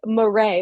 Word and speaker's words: Marais: I'm here with Jonah morray which I always feel like I'm going to say your name incorrectly it's spelled so beautifully and I know that it's like morray but I feel like